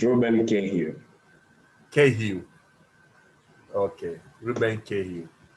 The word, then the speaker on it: Kihiu: Wait, how do I pronounce that? Is it Reuben Kihiu? Kihiu.